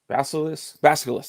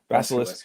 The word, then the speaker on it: Basilisk: Basilisk. That's how you say it. Basilisk.